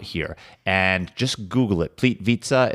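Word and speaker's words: Plitvice: and just Google it ple vitza is spelled p l t v i c e cuz however you think you're supposed to say it when I'm pronouncing that's not right so Google it and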